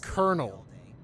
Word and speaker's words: colonel: col but it's pronounced kernel where's the r there's no R in there written at least there is no in